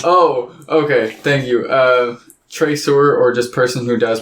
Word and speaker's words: traceur: okay thank you uh traceur or just person who does partial tracer yeah that's awesome it's spelled like tracer but you are at the end because it's french because yeah it's sprinkled